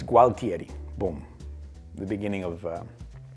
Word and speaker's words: Gualtieri: would have been Alexandro I've been saying it wrong all this time it's gualtieri Boom the beginning of